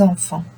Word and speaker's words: enfant: C'est la fête des enfants. I'm not saying enfants, I'm not saying enfante, I'm saying enfant. Le TS n'est pas prononcé. Ne sont pas prononcés, pardon. Donc là, T is silent, S is silent.